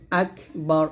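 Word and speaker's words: أكبر: করি তো এটা করলে কিন্তু বড় ভুল হবে আকবার এরকম আইনকে যাকে ধরবে যা উচ্চারণ করতে গিয়ে যেন জিম কিংবা জাল কিংবা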